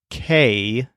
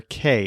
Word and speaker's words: que: that this isn't pronounced K as we would pronounce the letter k in English it's pronounced as a short and crisp sound K we'll talk more